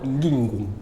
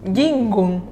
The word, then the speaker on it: NgìNgùn: Il y a eu ce projet que tu as décidé d'appeler Ngingwon? Ngingwon. Ngingwon. Voilà. J'espère que je prononce bien.